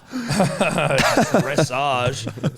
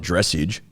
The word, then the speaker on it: dressage: Dressage. Fuck all y'all. Anyway. Oh, it's not dressage. Yeah, well, it is spelt like message, so.